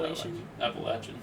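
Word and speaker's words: Appalachian: of like my appal appalachin that is the only pronunciation is it anything else is incorrect okay straight facts uh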